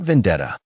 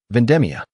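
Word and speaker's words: vendemmia: Naomi smiled gently as she corrected the child's pronunciation of an Italian word written on a scrap piece of paper. "Not vendetta." Naomi whispered patiently. "Vendemia.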